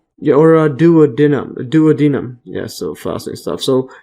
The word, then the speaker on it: duodenum: bile is discharged and do into the uh dood denum or duodenum duodenum yes so in stuff so there is a